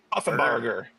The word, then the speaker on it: Puffenbarger: How do you say his last name again, Chris? Puffenbarger? Barger. Puffenbarger. Puffenbarger. I'm going to work on that.